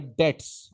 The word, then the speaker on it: debt: A legal process when the person or business cannot repay their debts. Again, this is not debt. Debt debt B is completely silent. Remember this.